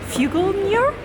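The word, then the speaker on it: Figlmüller: I want to pronounce it for you again, Fuglmuller.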